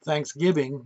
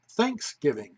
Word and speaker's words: Thanksgiving: that the pronunciation isn't Thanksgiving but Thanksgiving with the emphasis on the first syllable because really that's what